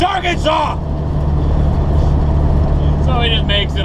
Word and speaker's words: Arkansas: did you know that in the state of Arkansas it is illegal to pronounce the state wrong you know this I guess they had too many people coming in here calling it our Kansas well that's the way you spelled it that's